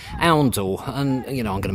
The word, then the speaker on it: Oundle: So the other piece of information I had was from somebody who watched my video of Oundle to tell me that it's actually pronounced Oundle.